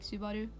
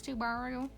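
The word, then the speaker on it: スバル: video is it weird if i say his name like subaru i feel like all american people are likes to borrow but um i speak norwegian a lot since i live in norway so subaru kind of comes more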